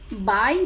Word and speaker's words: buy: Sim, todas elas a gente pronuncia buy, apesar delas terem significados diferentes e grafias diferentes, mas a pronúncia é igual, sim.